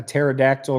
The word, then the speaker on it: pterodactyl: hear a p a pterodactyl going to the bathroom cuz the p is silent I like like that